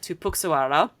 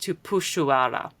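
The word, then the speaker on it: Tupuxuara: Unlike the family name that has an X in it, which in Portuguese in Brazilian Portuguese is pronounced like a sh.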